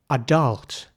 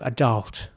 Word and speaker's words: adult: And what I want you to focus on here is the first letter, the A. It's really pronounced somewhere in between R and A. So it's not quite R, adult, and it's not quite adult either, but somewhere in the middle, adult. And the focus of the pronunciation is really the first part of the word. So it's not adult, that would be the American way, it's adult.